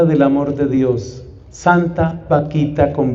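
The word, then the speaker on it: Bakhita: él y que tiene un nombre que suena chistoso en español porque se llamaba Vaquita, pero resulta que ese vaquita es un nombre africano y se escribe con B grande.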